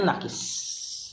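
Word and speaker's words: an-naqṣ: Tapi yang paling fasih fil hani pada kata anu, ya, an-naqsu dibacanya nakis.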